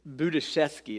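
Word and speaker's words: Budziszewski: to you one philosopher this guy's name whoever assigns these names is Buddha Chesky is how you say it but how could you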